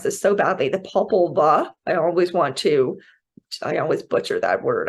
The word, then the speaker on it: Popol Vuh: this so badly, the Popol Vuh, I always butcher that word, I'm sorry, it's Popol and Vuh, the Popol Vuh.